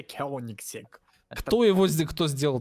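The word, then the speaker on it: Koenigsegg: Машина называется в слове три буквы G. Коенигсег. А читается Кёнигсег.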